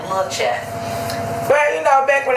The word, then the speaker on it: La Chat: name with L A why is that cuz it's it's pronounced like lat well you know back